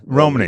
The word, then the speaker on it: Romani: because i know that you uh is it romani is that vermont is that how you pronounce it yeah yeah romney yeah romani so forgive me so uh your background is